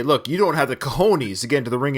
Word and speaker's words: cojones: verbally, of course, and says cojones, which is how you would pronounce it. Okay, I know where you're going. Rocky then says cajones. The problem is, which is understandable if you read that somewhere, because you might pronounce the J as an H.